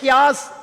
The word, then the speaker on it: chaos: ஒருத்தராவது என்னை பார்த்து அந்த CHAOSங்கிறத கியாஸ் அப்படின்னு ப்ரொனவுன்ஸ் பண்ண சொல்லாமல்ல, இப்படி பண்ணக்கூடாதுன்னு சொல்லாமல்ல, இல்லைன்னா நான் சொன்னது உங்களுக்கு புரியுது இல்ல, சிரிக்காமலாது இருக்கலாம்ல.